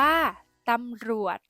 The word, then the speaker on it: ตำรวจ: ตัว สะกด แม่ กด ที่ มี จ จาน เป็น ตัว สะกด ออก เสียง เป็น เสียง ด เด็ก ได้ แก่ คำ ว่า ตำรวจ อ่าน ว่า ตำรวจ สำเร็จ อ่าน ว่า สำเร็จ